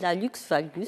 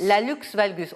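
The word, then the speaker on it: hallux valgus: valgus prévention et traitement c'est un terme assez barbare quand même on prononce comme ça laalus valgus laalx valgus laalx valgus on prononce parce que le gros or en latin c'est Alux d'accord et valgus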